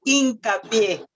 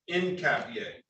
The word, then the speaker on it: Hincapié: The pronunciation is Hincapié. Yes, that's H is silent. Hincapie.